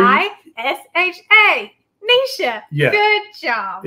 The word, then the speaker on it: Neisha: Just search her name and it's spelled correctly. N-E-I-S-H-A.